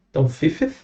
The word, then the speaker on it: fifth: Lembrem daquela fonética do TH aqui, beleza? Meio com som de F. Então, fifth.